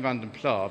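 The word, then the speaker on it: Vanden Plas: was after this one i'm saying vanden plar because from publishing material i know from the 1980s that's the way that actually they used to pronounce it there are other ways of doing it of course and other ways are correct but i say abandoned because that's always the way i've done it so 1973 demo double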